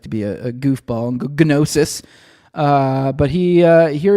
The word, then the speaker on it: gnosis: Uh the G is silent, but I don't know. I always like to be a goofball. Gnosis.